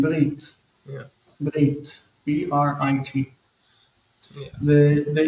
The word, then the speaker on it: brit: Bris is the Yiddish way of saying Brit.